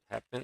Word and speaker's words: happen: Happen as well, not happen in the second syllable. That's correct. Happen is stressed on the first syllable.